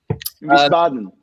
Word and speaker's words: Wiesbaden: Wiesbaden. Yes, that's I didn't know how to pronounce it.